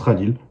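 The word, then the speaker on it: Khalil: simplement appelé radil voilà c'est écrit KH a l i l mais ça se prononce radil voilà j'ai un PR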